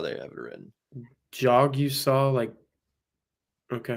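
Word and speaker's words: Jagusah: Jog-U-Saw. That's how they have it written. Jogusah, okay. Jogusah. It's not that hard. It's a jog that you saw.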